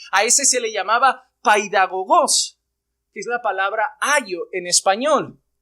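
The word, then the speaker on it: παιδαγωγός: La palabra griega se pronunciaría de esta manera, paidagogos.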